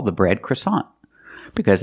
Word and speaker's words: croissant: we call the bread croissant because it's a French name but we pronounce it a little different we pronounce it with the American accent croissant comes from the